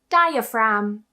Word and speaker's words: diaphragm: And finally, some words of Greek origin also have a silent G. For example, flem. Flem. Diaphragm.